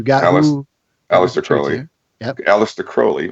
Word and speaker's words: Aleister Crowley: Aleister Crowley, which is actually how it's pronounced.